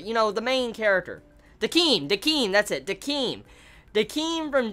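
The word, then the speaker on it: Decim: Let's see, Kazim, yeah, that's how you say it. Kazim from Death Parade, I forget his exact name, but you know, the main character. Dakeem, that's it, Dakeem.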